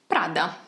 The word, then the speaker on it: Prada: more like a local you just have to get that R and that D very very crisp so instead of Prada